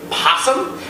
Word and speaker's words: opossum: Now, we all know that the opossum is spelled with an O, but some people believe that it is still spoken possum, or it's slang possum.